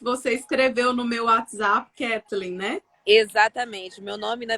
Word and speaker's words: Kathleen: Mas eu vi que você escreveu no meu WhatsApp Kathleen, né? Exatamente. Meu nome, na verdade, é Kathleen.